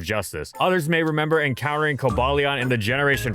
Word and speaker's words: Cobalion: foreign ER kobalian no no we're not doing that no I ain't pronouncing it like that it's kobalion okay that is the